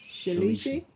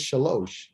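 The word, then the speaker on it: שלוש: Shalishi? Oh, good try. I'm sorry. I introduced you to the other word. It wasn't part of it, but it is shalosh.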